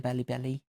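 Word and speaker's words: Balibari: to the Marquis de Bellibelli. I hate saying that word, it sounds so stupid. It's meant to be Bally Barry, but in an Italian pronunciation.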